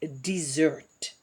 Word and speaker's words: dessert: dessert is dessert, and it is even called pronounced differently, desert versus dessert.